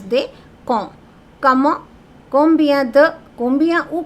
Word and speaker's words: quand: Quand, don't pronounce they, okay? Many students or many people who have learned just on their own, sometimes they pronounce it quand or something. No, don't pronounce they. Quand.